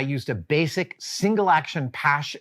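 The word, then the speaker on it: Paasche: a basic single action pass airbrush that's how you pronounce it p-a-a-s-h-e um because that's what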